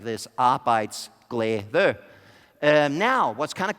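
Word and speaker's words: arbejdsglæde: means work happiness if you're wondering how to pronounce it goes like this I bites glay there now what's kind of cool is that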